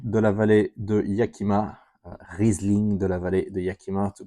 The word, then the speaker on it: Riesling de la vallée de Yakima: Riesling de la vallée de Yakima, to pronounce this properly.